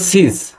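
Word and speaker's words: seize: অফ সিজ সিজ সিজ actually এর উচ্চারণ সিজ সিজ মানে হচ্ছে কি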